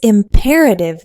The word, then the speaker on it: imperative: Imperative. Imperative. Four syllables with stress on the second. Not imperative, but imperative. That vowel sound is like the word pair.